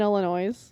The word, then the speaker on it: Illinois: state have me but it's got a silent s I'll tell you that